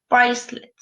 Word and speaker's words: bracelet: Okay, be careful with bracelet because okay, it's written actually like the French word, okay, like the French word, but it's a complete different pronunciation, okay, bracelet.